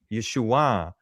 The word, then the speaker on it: Yeshua: iron at the end if you understood the Galilean way of pronouncing the iron. Because in the in Jerusalem, Judea, the the southern part, they did not pronounce the iron the proper way. They pronounced it just as an uh an A sound. Are you But, in the Galilee section, they pronounced it correctly and they used the upward nasal ah Yeshua.